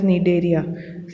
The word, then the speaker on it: Cnidaria: This Coelenterata is also known as Cnidaria. C is silent.